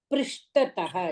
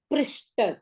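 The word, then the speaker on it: पृष्ठतः: See the spelling also. Prishtataha. It's not Prishta, pronouncing.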